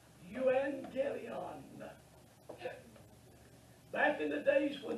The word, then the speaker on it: Euangelion: It's pronounced Euangelion.